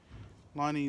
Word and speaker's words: Lonnie: Lonnie Lincoln. Yeah, that's how you pronounce his name.